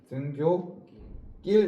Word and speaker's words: 등굣길: 발음해보세요. 등교길 되지. 그지? 된소리 됐네. 네.